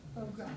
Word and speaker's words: foie gras: Foie gras is what it's pronounced.